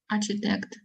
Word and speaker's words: architect: buildings who was she architect architect not architect yes and here it is so important to notice the pronunciation yes because CH in here would be pronounced as Cur architect architect exactly architect